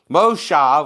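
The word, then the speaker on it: משה: name that you still right mosha which is how you really say his name in the hebrew is moses the same but then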